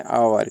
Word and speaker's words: hour: देखिए HOUR, इसको हावर बोलते हैं अपन, लेकिन अपना ये गलत प्रोनाउंसिएशन है और इसको बोला जाता है आवर।